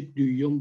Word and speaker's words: دویوم: برای همین گذاشتم استمد دویوم، یا تلفظ دقیقش میشه دویوم با اوی املات، ولی خب پس ما ترکیه.